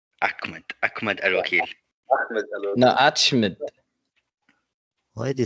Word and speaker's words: Ahmed: no, it's not Ahmed, it's Ahmed. Ahmed Al-Wakil. Ahmed El-Wakil. No, Achmed.